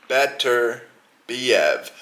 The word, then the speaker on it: Beterbiev: You pronounce it exactly how you read it. Beterbiev.